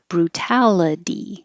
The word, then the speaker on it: brutality: hear the rule that the T will change to a d when it's between two vowels or between two voiced sounds but that other part of the rule is if it's in the unstressed syllable so excuse me this is why Tau stays a t and the T in a d itty changes to a d brutality so anytime you see